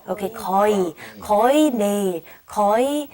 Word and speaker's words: 거의: And then the second one is 거의, but we don't pronounce it 거의. We say 거의. Okay, 거의.